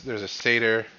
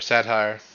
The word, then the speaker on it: satyr: There's a satyr or satire. No, satyr. Satyr's right. I said it right the first time.